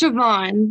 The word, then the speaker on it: Siobhan: Shoban, is that how you pronounce your name? It's Siobhan with a V.